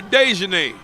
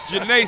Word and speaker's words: Janae: We called her Dejanay. Her name, the D is silent. It's Janae Sai.